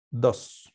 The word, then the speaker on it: does: Se pronuncia dos, como si no tuviera la E.